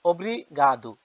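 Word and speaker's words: obrigada: স্কোপলা স্কোপলা thank you বাংলায় ধন্যবাদ ইংরেজিতে পর্তুগিজ ভাষা উচ্চারণ হবে অব্রিগাদু এখানে দেখে নেন ইংরেজিতে লেখা আছে বা পর্তুগিজ অবগাদু আর মহিলা হলে বলবেন অব্রিগাদা অব্রিগাতা পুরুষরা বলবেন অব্রিগাদু অর্থ সেম ধন্যবাদ এক্সকিউজ মি স্কোপলা কলি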